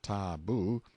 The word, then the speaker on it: tabu: in hiding-places till the tabu pronounced ta-boo, means prohibition, we have borrowed it, or sacred.